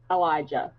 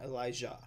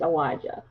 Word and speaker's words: Elijah: Okay, it's the letter L, the letter I, and then J. J-U-H. That's not how it's spelled. That's how you pronounce it. So L-I-J. Elijah. Yeah. So it's not Elijah. Right. It's Elijah.